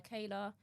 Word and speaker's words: Chaela: Beauty by Kayla. Kayla is spelled CHAELA.